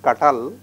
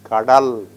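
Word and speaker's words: கடல்: It is not katal, it is kadal. Why this ta is pronounced as da? Because it is preceded by another letter.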